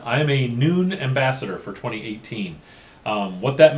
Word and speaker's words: Nuun: So what I want to talk about at this point is noon. Yeah, noon. It's lunchtime. I'll see you guys later. All right, I'm just kidding. Noon is that's how it's pronounced.